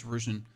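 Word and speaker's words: Ruzhan: Sorry, it's Ruzan. I googled how to pronounce that.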